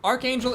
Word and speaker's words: Archangel: Archangel is Archangel. Archmage is Archmage, even though it's the same ARCH thing.